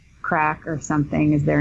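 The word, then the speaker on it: craic: know chatting with people they call it crack yeah they say that was good crack I've never heard that yeah if you're having fun and it's not spelled like C CK I think it's C IG or something but so had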